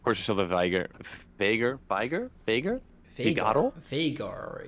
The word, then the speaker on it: Veigar: Veigar, it's the pronunciation, I think, because he says it himself. So I guess he knows how to say his name.